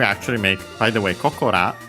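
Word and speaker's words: ここら: Yeah, so we actually make, by the way, Kokora, actually accent on the ko. Koko on its own and accented, but yeah, with this ra, it becomes accented on the second ko.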